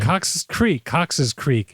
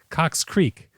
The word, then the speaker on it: Cox's Creek: Cox's Creek. Cox Creek.